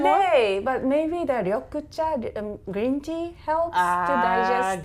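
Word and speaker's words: 緑茶: But maybe the ryokucha, green tea helps to digest green things.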